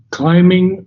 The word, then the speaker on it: climbing: I wouldn't pronounce the B. Okay. climbing. I have checked on it before and it's so just climbing now. Okay. I think in the earlier English times it was pronounced but not now.